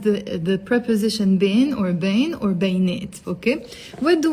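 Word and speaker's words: بين: and as I said you can pronounce it Bane or bin okay usually it's Bane and the Lebanese dialect it's Bane so I want to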